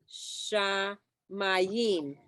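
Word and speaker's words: שמים: So it's Oseh Shamayim. Good. Shemai. But look, Shamayim. but remember we learned about the metek? It's shamayim because the metek is over the under the mem. So usually it's the last syllable.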